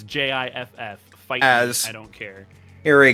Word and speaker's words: GIF: yeah you're the actual the only word of filed Association pronounced is GIF is Jiff I don't care here